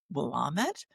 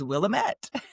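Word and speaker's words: Willamette: And you said innocently, do you mean womit? And of course, Marian is absolutely right. But because I have already learned things in my long life like kitchenet and pirouette, I just thought it was Willette.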